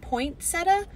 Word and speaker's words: poinsettia: it first of all there's no T in the middle of it isn't it poinsettia poinsettia poinsettia yeah I have